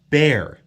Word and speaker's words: Bexar: Bear. It's spelled like Bexar, right?